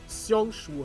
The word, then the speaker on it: Xiangshu: This means this meeting has been ne, das X wird wie ein S ausgesprochen, ne? Also müsste es Xiangshu heißen oder so, ne?